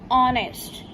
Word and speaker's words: honest: H is silent over here. Try to speak honest. O की आवाज आ रही है तो H क्या है यहाँ पे? Silent. So we will use an honest.